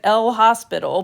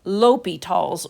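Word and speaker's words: L'Hôpital: I know it looks like L hospital but it's pronounced uh Li Tall's rule.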